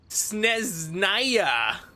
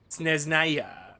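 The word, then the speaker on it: Snezhnaya: The H is silent. Why put an H in there then? Sneznaya. Sneznaya.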